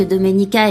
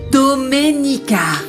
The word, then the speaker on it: Domenica: Tu as du mal à prononcer mon prénom. C'est Doménica. Non, Dominica, arrête de l'énerver davantage, tu veux ?